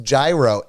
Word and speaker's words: gyro: bella that is incorrect in english it's pronounced gyro i know that the greek